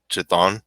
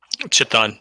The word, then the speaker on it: Chthon: And one of these gods, who I can't pronounce, Chthon, is that how you say it? Chthon, yeah. Chthon, yeah.